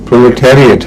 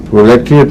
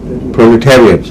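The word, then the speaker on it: proletariat: Industry check کی تھی، پرولیٹیریٹ ہے لفظ۔ تو اگر پہلی کیسٹس میں کوئی سنے تو اس کی اصلاح کر لے، پرولیٹریٹ نہیں ہے، پرولیٹیریٹ۔ اور وجہ یہ ہے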